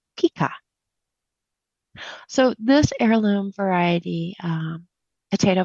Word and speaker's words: Pica: And so this potato, pronounced pica.